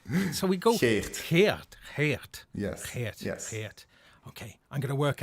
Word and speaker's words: Geert: Geert.